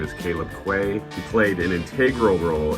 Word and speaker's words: Quaye: time but this is Mr Caleb it's Caleb Quay is that correct okay just want to make